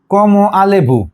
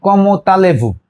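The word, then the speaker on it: comment allez-vous: কম আলে ভু, কিন্তু না আমরা কি শুনি? কম তালে ভু, এটা উচ্চারণ।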